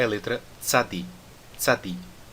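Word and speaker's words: צדי: Agora, o som do tzadi é um som que nós não temos no português. É o som que existe, por exemplo, na língua japonesa para a palavra tsunami. Eles não dizem tsunami, né? Eles dizem tsunami. É como se fosse o T e o S junto, e faz um som de S ainda mais forte do que o S, por exemplo, na palavra assado.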